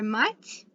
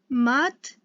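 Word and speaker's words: мать: So we've got mama, or mать, and papa, or отец. Pay attention to the pronunciation. Notice that in mother, there is a soft sign at the end. So it's not mat, it's mать.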